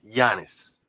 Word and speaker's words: Giannis: I've gotten so many comments about the way I say his name, Giannis Antetokounmpo, cuz I say the G, Giannis.